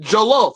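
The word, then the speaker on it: jollof: i said it right i said joloff i ain't saying no jello rice like god man like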